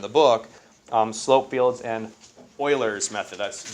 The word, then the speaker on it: Euler: book, slope fields and Euler's method. That's, you pronounce it Euler, not Euler. I know it's EU, you normally U, kind of like Europe, right? But it's Euler.